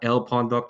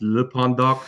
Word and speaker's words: lpondoc: Unfortunately, not like a luchador, so it's not El Pondoc. Technically, it's pronounced Le Pondoc, but I didn't really think ahead when I made that Twitter.